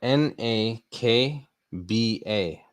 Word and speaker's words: Nakba: spelling for you so this is um it is spelled n a k b a nakba uh kind of just like how it